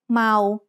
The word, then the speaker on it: เมา: สระเอา is a live syllable ending. So เมา is said with a mid-tone.